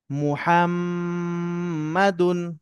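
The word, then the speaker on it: مُحَمَّدٌ: মিম পেশ মু, হা হা মিম জবর হাম, মুহাম, মিম জবর মা, মুহাম্মা, দাল দুই পেশ দুন, মুহাম্মাদুন।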